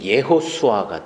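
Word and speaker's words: יהושע: 해요 예수수라고 발언을 하는데 이에 수술과 그 히브리아로 발음했을 때는 예호수아가 돼요 예호수아는 뭐냐면 그 구약에 보면 여호수아 나오잖아요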